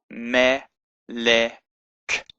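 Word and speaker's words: מלך: So it's me, le, k, melek, melek, melek.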